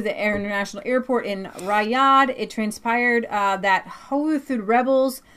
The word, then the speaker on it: Riyadh: in five years sir yeah will says it's pronounced Riyadh thank you Riyadh got it as the cloth inch to midnight